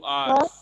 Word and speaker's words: hours: 2 hours नहीं बोलते, 2 hours। 2 hours sir. H silent है, H साइलेंट है।